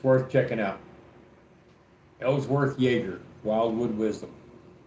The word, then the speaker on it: Jaeger: And it's by a man named Ellsworth Yeager. You need to spell that. Ellsworth. And his last name is Jaeger. It's like a Nordic name, Jaeger, like Jägermeister. Ellsworth Yeager.